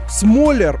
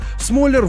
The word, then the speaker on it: Смоляр: артёму это конечно же ударение в фамилии так вот smaller не раз об этом говорил ударение ставится на о но поправлять людей smaller